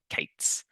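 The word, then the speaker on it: k8s: She introduced the term observability, often written as 01 Y and pronounced Ollie and the style of Kubernetes being KS or Kates.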